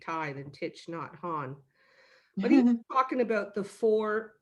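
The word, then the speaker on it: Thich Nhat Hanh: to this this guy i know i'm not going to say his name right but it's titch not ha titch not han yeah yeah i don't know if i'm saying that right they just call him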